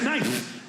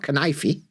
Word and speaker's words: knife: They save up their knitting to do on silent letter day. And the knife is the only cutlery that you're allowed to use, the knife.